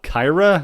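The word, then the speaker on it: Cyhra: bit more metally um the band's called I think it's called Kyra and it's spelled c YH R A so Kyra is a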